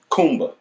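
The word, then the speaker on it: Kuumba: Okay, so day 6 is pronounced Kumba. Okay. That's the easier one, Kumba, Mm-hmm. and it means creativity. Mm-hmm. This is the symbol. I like that for one. Kumba.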